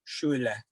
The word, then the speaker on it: Schiele: I used to just say Schiele. Schiele. Yeah. Schiele, the Americanized version of Schule.